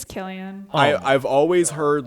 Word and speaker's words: Cillian: with a hard Killian. sound. Okay. Yeah. Well. Yeah. Hey, the more you Pronounced know.